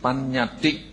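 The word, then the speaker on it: paññatti: So in Pali, so if you want to note, so we would pronounce it panyati.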